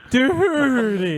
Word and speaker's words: Doherty: Doherty. The H is silent except when I pronounce it.